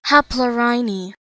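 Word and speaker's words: Haplorhini: Editor Brad, how do you pronounce that? Haplorini.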